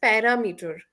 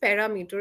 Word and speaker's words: parameter: First word is parameter. The pronunciation you are using is parameter. It's not parameter. It's parameter. Parameter. Para- Parameter. Right.